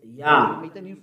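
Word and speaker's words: יה: How to pronounce it's Yah, according to the Hebrew.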